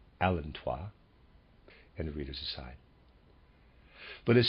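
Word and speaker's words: allantois: the unborn readers aside i'm pronouncing a-l-l-a-n-t-o-i-s as alantois and readers aside but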